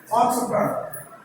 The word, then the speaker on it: entrepreneur: Entrepreneur. Entrepreneur. A business magnate. Entrepreneur. It is not entrepreneur. There is no ya sound. It is not entrepreneur, it is entrepreneur.